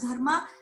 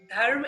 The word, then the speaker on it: dharma: In Pali language, dharma is pronounced as Dhamma, Dhamma.